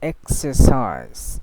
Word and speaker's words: exercise: And she says exercise, exercise, but didn't say exercise, exercise. No, exercise. So most of the cases, in some specific words, they don't pronounce the R sound.